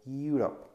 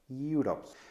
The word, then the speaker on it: Europe: algo especial, dado que algunas veces la pronunciación no es exactamente el de una vocal, sino el de un sonido a media entre consonante y vocal. Por ejemplo, uniform, uniform o Europe, Europe.